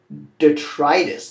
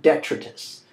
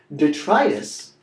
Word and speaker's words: detritus: much like a battlefield next this word is pronounced detrius not detrus detrius is waste and debris stuff strewn about everywhere so imagine a big Street party like Marty gr come 5:00 a.m.